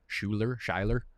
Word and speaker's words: Schuyler: Schuyler.